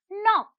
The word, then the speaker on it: knock: the silent letter here is k the word is knock come let's see the